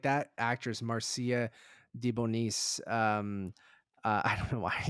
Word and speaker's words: DeBonis: That's probably not how you say it, but Is she it is Debois? so no, it's Debonis and the B is capitalized. So Deboni, Debonis.